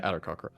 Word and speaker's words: Aarakocra: Is that how you pronounce it? Yeah, Aarakocra.